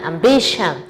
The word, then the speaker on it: ambition: Essa é a pronúncia, shan. Condition, nutrition, ambition.